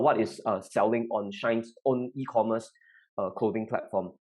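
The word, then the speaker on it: Shein: help but think about this company called shine and who are pronouncing it correctly s-h-e-i-n it's a clothing manufacturer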